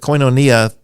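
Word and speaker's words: koinonia: in the 15th century try to be consistent with coinonia that's the way I would say it there's a couple of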